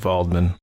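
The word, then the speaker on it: Waldman: visit Victor's old Professor Dr valdman and it's with a W but that's how they say it valdman and he tells Henry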